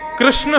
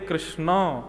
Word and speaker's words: कृष्ण: इसीलिए कृष्ण शब्द का जो लोग कृष्णा उच्चारण करते हैं, वे सावधान रहे क्योंकि यदि मुक्ति मिलेगी तो वैुंठ में द्रोपदी आपका स्वी स्वागत करेंगी।